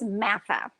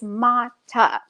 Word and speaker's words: Mata: And her name was Matha, or at least that's what I called her because I was having a hard time pronouncing her true name, which is Mata.